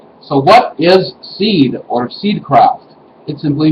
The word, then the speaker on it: seiðr: on the top and uh would be pronounced as in width anyway so what is seed or seed craft it